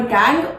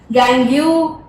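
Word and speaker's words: gangue: एंड all these unwanted particles are called गैंग और matrix. गैंग्यू, गैंगी, जैसे भी आप प्रोनाउंस करना चाहें, इट इज अप टू you only, या फिर मैट्रिक्स।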